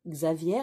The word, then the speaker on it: Xavier: prédictions de chico aviaire donc ça s'écrit xavier mais ça se prononce aviaire étant donné que 70